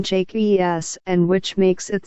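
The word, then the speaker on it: Jaques: We also need to know, however, that the A is pronounced like a long A, which makes the name Jake E.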